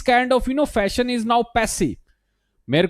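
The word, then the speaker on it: passé: तो antiquated thinking, archaic thinking, या अगर मैं बोलूं यार पैसे, इसका प्रोनाउंसिएशन याद रखना, पैसे, है ना।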